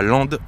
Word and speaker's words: Lempdes: Le véhicule se trouve chez Overcamp au 1 rue de Murschurallié à Land. land, ça s'écrit L E M P D E S dans le puit de Dome.